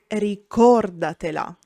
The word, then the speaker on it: ricordatela: A word is bisdrucciola when the accent is on the fourth last syllable. These words are rare and usually compound. For example, ricordatela, remember her.